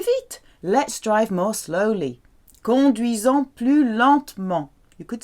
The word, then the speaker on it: conduisons: Nous conduisons, S between two vowels, Z sound.